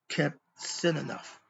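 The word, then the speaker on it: Qebehsenuef: And the last one is kept sin enough. Kept sin enough. And it's spelled Kebsenuf.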